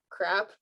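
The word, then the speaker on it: CRAAP: um systems in place known as uh crap that's literally how it's pronounced um where you measure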